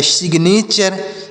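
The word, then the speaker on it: signature: ए टी य आरई तो एस से पढ़ेंगे श आई से छोटी ई की मात्रा और देखिए यहां पर जी साइलेंट है एन ए से पढ़ेंगे ने टी यू आर ई को चर पढ़ा जाएगा सिग्नेचर इसे पढ़ेंगे सिग्नेचर इसे पढ़ेंगे सिग्नेचर सी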